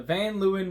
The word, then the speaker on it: Van Leeuwen: two spooky flavors the van Lewin win which is I Googled it I'm pretty sure that's how you pronounce it uh release new flavors